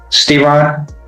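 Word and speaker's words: Steron: How do you pronounce it? Stron.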